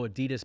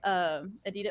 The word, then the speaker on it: Adidas: they're sponsored by Adidas, or Adidas is apparently the correct way to say it. In America, we say Adidas, but it's actually supposed to be pronounced Adidas.